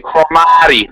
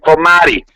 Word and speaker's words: Cromartie: I'm gonna say his name, Cromartie, like Italian, freaking Cromartie. We're gonna do it like that.